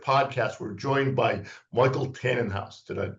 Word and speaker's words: Tanenhaus: So today on the Strategy Shift podcast, we're joined by Michael Tannenhouse. Did I pronounce that correctly?